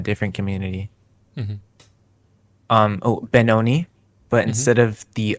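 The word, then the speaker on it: bnxn: like from a different Community mhm um oh benon but instead of the O it's an X so it's spelled like b n x n i okay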